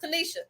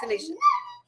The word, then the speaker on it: Tanisha: Tanisha had to let me know. Like, look, it's pronounced Tanisha. But I got it now. Tanisha.